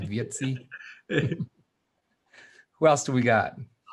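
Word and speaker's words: Wietse: over you know so pretty cool good for vietti venema oh i pronounced it right vietsi who else do we got all right on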